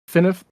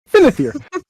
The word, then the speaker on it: Finithir: As he pulls this out, you hear Finif. Wow, what is it? You guys said his name wrong, or Catherine said his name wrong so many times. I forgot his actual name. Finithir.